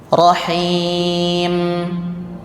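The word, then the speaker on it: الرحيم: akhir ayat mim ya kalau dia sukun bacaannya dua satu keluar dari hidung ya terdengar yang kedua dari bibir jadi rahim m m ada dari hidungnya bunyinya seperti lebah hm hm nah ini disebut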